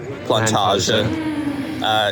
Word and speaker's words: Plantage: of Amsterdam over to an area we think it's called or pronounced Plantage, because we went to this how to pronounce in Dutch site, and that's what came up.